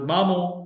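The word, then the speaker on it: مامو: उसके बाद मामो, मामो यानी मेरे मामू। उर्दू और सिंधी में सेम है, सिर्फ गुन्ना हटा देना और मीम पर जबर लगानी है पेश के बजाय।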